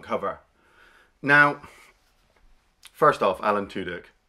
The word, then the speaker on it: Tudyk: Now, first off, Alan Tudyk, how did that joke ever pass me by? I mean, I know I pronounce things really badly, but it does say Tudyk, right?